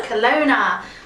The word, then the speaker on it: Kelowna: Barrie, London, Hamilton, and I can't pronounce this one. Tell me. Kelowna? Kelowna? No, Kelowna.